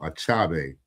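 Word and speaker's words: Achebe: I believe it's pronounced Achabe. The E makes the A sound. So Achabe is his last name.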